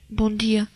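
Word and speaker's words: Bom dia: Par exemple, le M quand tu dis bonjour. Bon. Ah oui. Comment tu dis? Bon dia.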